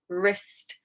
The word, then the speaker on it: wrist: So yeah, right wrist, wrong. Silent W because it's WR. WR, silent W. Just remember it like that at the beginning of the word.